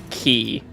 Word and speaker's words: Chi: fight, then Well, first you have to pronounce his name right. Key.